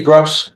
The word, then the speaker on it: Gross: Yeah, am I pronouncing it correctly, Gross? Yes. Okay. Like the Gross amount of something or Gross?